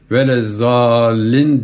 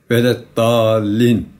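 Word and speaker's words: وَلَا الضَّالِّينَ: Ama Kur'an-ı Kerim'deki datlar Z okunmaz. Mesela Fatiha-i Şerife okurken vele zallin denmez. Vele dallin okunması lazım oranın.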